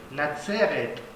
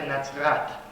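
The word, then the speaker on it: נצרת: De natzeret, Nazaret, o también se pronuncia natzrat.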